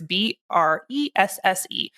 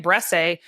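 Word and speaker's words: Bresse: the pronunciation guide um it's a French word it's B SS and for a long time I was calling it BR and that's wrong it's rhyme with dress I was informed so American brast and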